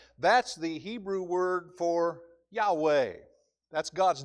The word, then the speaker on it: Yahweh: The old scholars believed that the Hebrew word was pronounced Jehovah. But more modern scholars believe that the better pronunciation, the more accurate pronunciation is Yahweh.